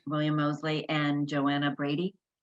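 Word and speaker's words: William Moseley: mosley is that how you say it correct william mosley and joanna brady correct great okay they're adorable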